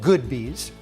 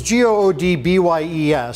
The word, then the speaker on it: Goodbyes: on Sacramento Street, and I call it Good Bees. It's spelled G-O-O-D, and I have to give this plug for them. They don't pay us to do this, but it's G-O-O-D-B-Y-E-S, so a lot of people say goodbyes.